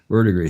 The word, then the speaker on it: verdigris: Here are some facts about how would I pronounce it? Is this Latin? Verdigris? Yeah. Verdigris.